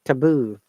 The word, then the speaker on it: taboo: pronounce at all even if we pronounce we pronounce it softly so instead of a TA we don't say ta so it's taboo so a subject or word or action that